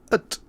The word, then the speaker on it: het: the next sentence as: Het huisje van zijn moeder was gelukkig gemakkelijk te vinden. You can see the het sound shifts to the ut sound and zijn sound shifts to zin.